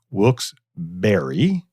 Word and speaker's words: Wilkes-Barré: So it is Wilkes-Barré. It's spelled Barre. So you get a berry.